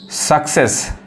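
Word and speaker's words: success: उसी तरह ये देखिए डबल सी आ रहा है, सक्सेस। एक सी क्या पढ़ रहा है, क, एक सी क्या पढ़ रहा है, स, सक्सेस।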